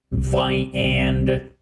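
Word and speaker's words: viande: Let us try to find viand somewhere. That is how you pronounce the word for meat, which is viand.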